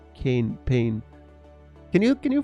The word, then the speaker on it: Kane: me more pain because your name is synonymous not synonymous but you know rhyming with pain cane pain can you can